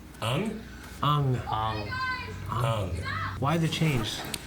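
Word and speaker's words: Aang: Ong airbended a sphere around them and ice formed, and he couldn't remember Yeah, anything we're after going.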